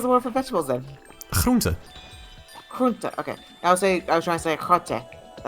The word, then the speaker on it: groente: Groente.